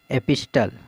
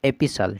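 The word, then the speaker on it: epistle: एपिस्टल, एपिस्टल जो है इसको हम सही उच्चारण पढ़ेंगे एपिसल, ठीक है, टी का उच्चारण नहीं होता है, इसका सही उच्चारण होता है एपिसल।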